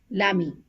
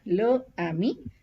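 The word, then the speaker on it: l'ami: l aposto a i so the pronunciation also becomes Lami so it is not L Ami it's pronounced as Lami under example is this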